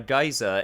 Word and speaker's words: geyser: audio guide and yet this a geyser is listed as an american pronounced nation and geezer is supposed to be the great britain way okay i'll give the